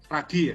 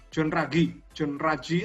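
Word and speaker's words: Ruggie: untuk hak asasi manusia, Profesor John, bacanya Raggi ya, John Raggi atau tulisannya Rugi, John Rugi.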